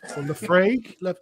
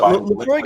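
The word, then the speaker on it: Laphroaig: Or Lefraigue. Ooh, Lefroy. It's a bit. Chris knows how to pronounce it. I can't. Oh, Lefroy. Lafroy. It's really Lefroy.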